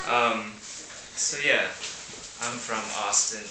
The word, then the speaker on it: Austin: Um, so yeah, I'm from Austin, Texas, which rhymes with Boston.